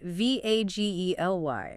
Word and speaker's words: vaguely: V A G E L Y. Vag E. Two syllables. Stress on the first.